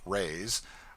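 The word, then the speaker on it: reis: lady hails from the portuguese pennies or reys pronounced rays are prodigious it takes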